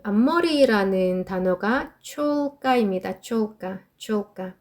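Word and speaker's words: чёлка: 촐까, 촐까.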